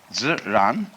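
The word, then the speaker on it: 自然: We use the word nature for the Chinese expression ziran. They pronounce J like a sort of unrolled R. I mean, that's the scholars did this to confuse you.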